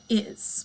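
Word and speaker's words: hay: technically we haven't learned it yet what the book is introducing for you here is the verb i again remember that h is silent so it's really pronounced i like your eyeball i and it translates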